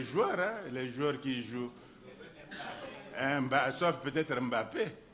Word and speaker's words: Mbappé: jouent sauf peut-être Mbappé mais parfois ils disent MN Mbappé Guillen MN il prononce d'abord le M parce qu'ils peuvent pas coller le M et le P ils peuvent pas coller ça ça n'existe pas dans leur son donc présenter graphiquement il